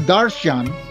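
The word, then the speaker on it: दर्शन: Ang ibig sabihin ng salitang Sanskrit na darshan, darsana, na ang bigkas ay darshan, ay paningin, bisyon o anyo.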